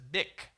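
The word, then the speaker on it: Bich: After his patent lapsed and was reworked by another individual, that patent was sold to a man named Marcel Bisch. You might pronounce that as Bic.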